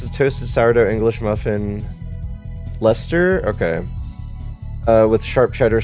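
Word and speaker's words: Leicester: It's pronounced Lester but spelled with a bunch of extra letters like how we pronounce baloney.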